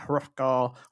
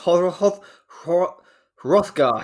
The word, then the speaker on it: Hrothgar: went to pronounce the H at the beginning of his name, but I realised we're just going to treat that like silent, aren't we?